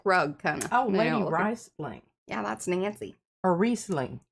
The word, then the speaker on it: Riesling: Well, if it's German, you pronounce the second vowel, so it should be Riesling.